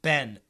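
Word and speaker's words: been: In American pronunciation, B-E-E-N is a short E. It sounds like Ben. Ben.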